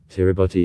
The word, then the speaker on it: Kiribati: opened islands in 1788 tiribotti is a local pronunciation of the english word gilbert's the traditional name of the gilbert islands tutangar hungaroo the first british settlers came on islands in 1837.